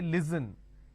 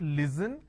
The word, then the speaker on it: listen: s n listen they replace the S with a z and they say listen it's not listen it's listen even if